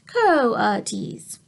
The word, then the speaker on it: coatis: Brisbane said reading from the letter pronounced Co T's the coatis look weird